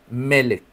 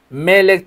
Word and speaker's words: Melec: Melek tiene acento en la primera i. Melek, no melec.